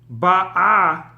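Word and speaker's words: בָּאָה: Here the stress is on the first syllable, on the vowel and the bet.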